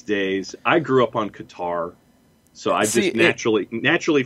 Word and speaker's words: Qatar: a clear-cut setup um qatar is what i had always heard then i think during the bidding for the world cup that they were awarded cutter became a more common usage but i don't think there is an exact like this is right this is wrong and that's what's frustrating